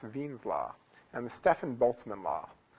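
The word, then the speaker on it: Wien: Uh something that sounds like W's law, Wines's law, but it's sort of German, so it's pronounced Ven's law.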